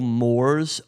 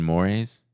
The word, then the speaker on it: mores: What makes them so good is that because of the like cultural moors of that time period. You mean mores?